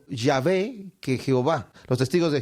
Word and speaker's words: Yahvé: pronunciaban sin vocales y como no se escribían las vocales de esta palabra el pueblo no sabía cómo sonaba cuál era su fonética es más probable que haya sido yahvé que Jehová los Testigos